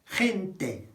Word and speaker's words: gente: So, the people is la gente, la gente.